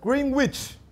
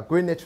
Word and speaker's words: Greenwich: 外人就会念成 Greenwich Village，一听就知道你外地人啊。纽约人这个 W 是不发音，叫 Greenwich Village，叫啊，欺负外地